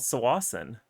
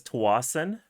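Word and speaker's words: Tsawwassen: through a municipality called Sawasan. And impressively, Web Captioner is spelling it correctly. People will say it as Tawasan, but I believe the correct pronunciation is Sawasan.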